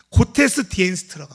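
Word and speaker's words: Gottesdienst: 그 독일어 잘 모르지만 독일어는 제가 구텐타만 하는데 독일어로 예배를 이렇게 말한대요. 발음이 고테스디엔스트라고 합니다. 고테스디엔스트.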